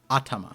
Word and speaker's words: atama: it's mount head atama oh i pronounced that wrong atama i think the emphasis is at the beginning that's uh mount head